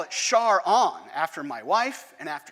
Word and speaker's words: Charon: it this way too pronounce it charon because that's how jim pronounced it because he named it after his wife and there they are